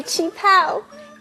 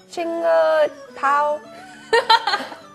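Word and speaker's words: qipao: Look at my chi pao. It is from my mom. Oh, it's really pretty. How do you say that word again? Chinga pao?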